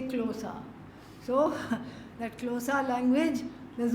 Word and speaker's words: Xhosa: You have to click, and then quickly say Xhosa.